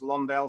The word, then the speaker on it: Londe: Landale although land L in French is pronounced Lawndale so it's all the